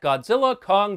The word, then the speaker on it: Godzilla x Kong: a quick look at Godzilla Kong the new Empire and no I did not misspeak the X in the title is silent this was directed by